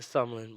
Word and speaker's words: SMLN: Is that how you pronounce it? Sumlin, but yeah, SMLN.